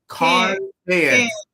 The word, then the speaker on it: Cairns: Is it Cairns? Yes. Yeah. Why do you spell that with the R for silent?